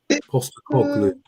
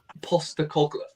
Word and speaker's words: Postecoglou: Postecoglou. Postecoglou.